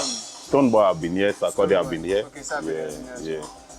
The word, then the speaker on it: Sarkozy: They say Sarkozy. Yes, Sarkozy. Yeah, they pronounce it like French.